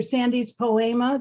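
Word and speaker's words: Sandes Poema: Like SANDES, Sandy's, spelled with an E, and then like poem with an A on the end.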